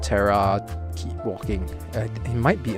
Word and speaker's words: Terra: Like Terra is pronounced as Terra, T-E-R-R-A, but you have a very soft H in the middle, so it's like Terra.